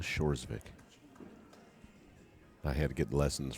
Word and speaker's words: Hjorsvik: and now the k k is silent with shores vic shores vic i had to get